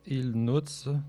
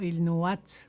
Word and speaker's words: Ilnuatsh: Ilnuts se prononce Ilnuts, dont la voyelle ne se dit pas. C'est la voyelle, c'est le A qui se dit pas. C'est ça. On dit pas Ilnuat, on dit Ilnuts.